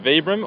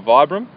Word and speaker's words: Vibram: um now important question vbr or Vibram I think the company pronounced it vbr but most people say vibr yeah I got say